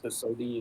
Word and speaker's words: Sodi: It's the Sodi is what they pronounce it, the normal rental.